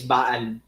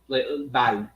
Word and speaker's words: Baal: Yeah, but it's Ba and it's Al, right? Is not the Al a form of El? No, it's not. It's an Ayin. It's spelled completely different.